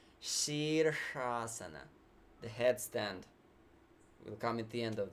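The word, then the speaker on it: Śīrṣāsana: English normal shine shiver so sheersha so that first show is this Shiva that penetrating sound yeah and she'd cross so this second truck is that cerebral shrub when we point with our tongue upward and curl it so sheer asana Shh in the same word in one word sheersh-asana the headstand will come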